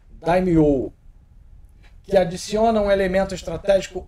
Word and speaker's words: Daimyo: Na verdade, pelo que ele escreveu aqui, a pronúncia correta seria Daimyo, que adiciona um elemento